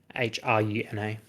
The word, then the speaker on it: Hruna: And Runa has a silent H in the front of it. Hruna.